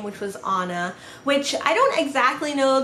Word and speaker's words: Ana: a n a which some people say as anna but it is pronounced the way my parents pronounce it is anna they named me that name but then they